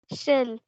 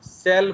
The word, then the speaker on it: shell: shell. हाँ, CELL होता है सेल। ओके, तो ये याद रखना है, बिकॉज बहुत ओडिया लोग क्या करते हैं, प्रोनाउंसिएशन के टाइम में सेल बोल देते हैं उसको।